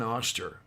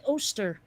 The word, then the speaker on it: Oster: I think it's an auster I don't think that it's a wearing I think it's an auster never heard it uh pronounced quite that way it's usually ooster oh okay or at